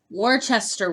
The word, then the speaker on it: Worcester: Daily 30 this week is Worcester week. As in the sauce. That's how you say it. Worcestershire sauce.